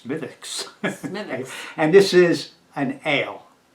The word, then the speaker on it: Smithwick's: is girlfriends yeah it's SMI th WIC KS so I said Smithwick's oh no no no what the Irish girl tells us she said the W is silent so it's mythix and this is an